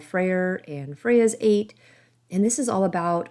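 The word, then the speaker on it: ætt: Now, the word 8 does sound like I'm saying the numerical word 8, E-I-G-H-T, but I'm not. So this is spelled A-E-T-T. And again, I might not be pronouncing it correctly, but it does in fact kind of sound like the number 8.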